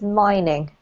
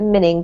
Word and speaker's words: mining: This one here is mining. Mining. We can't pronounce it minning because it doesn't have a double N, and minning isn't.